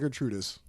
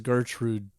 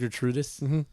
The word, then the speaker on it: Gertrudis: It's on Santa Gertrude Avenue. No, Gertrudis. That says Gertrude. Gertrude or But it's pronounced Gertrudus. Yeah.